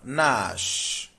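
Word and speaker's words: gnash: Then number 10 we have Nash. Nash. G N A S A the G in Nash is silent. So the sound is N.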